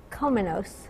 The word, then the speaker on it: Kominos: And it's Kominos. Kominos. Kominos. Yes. Wow. Okay. It's more like it rhymes Greek. With Dominos.